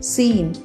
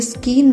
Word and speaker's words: scene: अब long vowel ई के examples हैं MEAL मील, SCENE सीन। ये स्कीन नहीं है, सी इसमें साइलेंट रहेगा, तो इसे स्कीन नहीं सीन बोलेंगे, सीन।